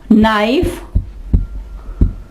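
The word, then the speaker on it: knife: ठीक है, एक नो, नाइफ, नॉलेज, नॉलेज। ठीक है, नॉलेज। यहां देखें डी जो है वो भी साइलेंट है, नॉलेज नहीं कहा हमने, नॉलेज, इल्म।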